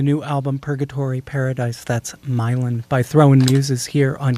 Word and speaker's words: Milan: You can call it Milan if you want. Lots of Italian people do. But it was written in my neighborhood in New Orleans, which is pronounced Milan.